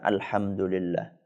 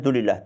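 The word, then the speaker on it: الحمد لله: misalnya ketika kita mengucapkan Alhamdulillah ya banyak orang ketika membaca itu enggak sempurna karena pengin cepat selesai maka dia bacanya dulillah dulillah dulillah apa itu dulillah ya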